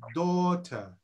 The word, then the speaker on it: daughter: always rhyme with bout in daughter leave the gh out leave the gh out daughter daughter for example daughter